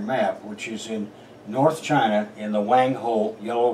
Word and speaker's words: Qin: other words region of China where there were Seven Kingdoms which had settled out by 2,240 years ago and by 2221 years ago this Kingdom in Gray which is called chin qu i n um conquered all of